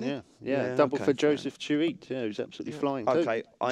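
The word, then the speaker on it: Chute: Joseph Chouit. That's his name. Joseph Shoot. C-H-U-T-E. Shoot. No, it's not shoot. That's how it's pronounced. Chouit, like tweet.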